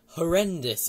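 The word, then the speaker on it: HoRNDIS: And it's with a program called Horrendous is how you're supposed to pronounce it.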